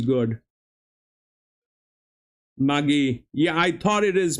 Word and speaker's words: Mudgee: Mudgee. Yeah, I thought it is Mudgee. I thought it is Mudgee. D is silent.